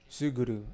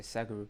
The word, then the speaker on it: Suguru: see let's hear it suguru okay suguru so I was I say sakuru suguru so next scene suguru